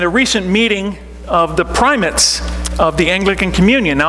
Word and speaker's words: primates: a province in the Anglican Communion at is pronounced primates if it were up to me I'd find